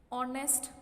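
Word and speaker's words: honest: ऑनेस्ट person. इसका भी एच जो है वो साइलेंट रहता है इसीलिए हम इसके आगे एन लगाएंगे.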